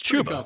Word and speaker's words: Chubba: Is it Chuba? It's Chuba. Chuba.